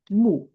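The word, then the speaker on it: 目: So do you know this character pronounced moo moo?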